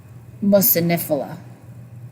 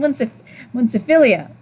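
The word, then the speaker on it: muciniphila: because of the Akkermansia mucinifila. I'm not used to saying it like that. I think I've been saying it wrong for months. I kept saying munciphilia.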